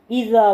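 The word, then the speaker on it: إذا: ഇദാ എന്ന് വായിക്കരുത്, ഇദാ. നാക്ക് പുറത്തേക്കിടുക, കാറ്റ് പുറത്തേക്ക് വരാത്ത രൂപത്തിൽ ഇദാ വായിക്കുക.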